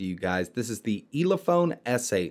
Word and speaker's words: Elephone: guys this is the ELA phone s8 now I'm probably not pronouncing that correctly it's e le th o and E so I think it's ela phone either way this is